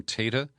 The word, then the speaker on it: Tata: I now believe he pronounces his name Tata.